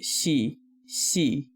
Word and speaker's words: Xi: but also also i'm pretty sure it'd be more like c c yeah just his pronunciation he just kept on saying it over and over again yeah but yeah because i mean that's how you pronounce the x i in um and mandarin c i mean yeah from